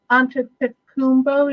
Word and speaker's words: Antetokounmpo: Goes, I really hope we get Giannis Antetokounmpo, is how you say his last name.